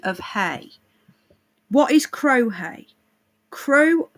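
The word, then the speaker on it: Crau: so the champagne of hay what is crohe crow pronounced crow okay is a hundred percent organic meadow hay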